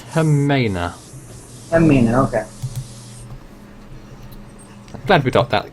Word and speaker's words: Jimena: John of the name it's actually pronounced Hera okay glad we got